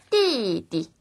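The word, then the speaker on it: 弟弟: 4성은 높은 데서 아래쪽으로 쭉 떨어지는 느낌이기 때문에 떨어지다가 더 떨어진 곳에 짧고 가볍게 발음을 해주시면 돼요. 소리가 낮습니다. 주의해서 들어보세요. 띠띠 띠띠 떨어지죠?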